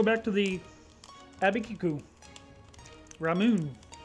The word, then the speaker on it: Ramune: Ramune. That's how you say that. There's no way that's not pronounced that way. How do you go about pronouncing it? Ramune.